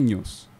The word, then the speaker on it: nous: no no asal 17.00 Itu sebenarnya dari kata Yunani gitu bacanya sih sebenarnya news oke oke oke kayak baca berita atau news Kayaknya pas fans-nya new